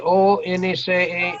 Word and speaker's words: once: All right, this year, si mire esta palabra aquí, O-N-C-E, O-N-C-E. Now, mire, no puedo explicar el por qué, but this here is pronounced W, with like como si fuera W. Once.